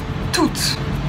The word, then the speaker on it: tout: je vais tout lire tout et au but et prononcé tout puisque ce le pronom neutre par contre les livres